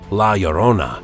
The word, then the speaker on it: La Llorona: angry ghost and a cursed creature the name pronounced la llorona translates simply to the crier which is exactly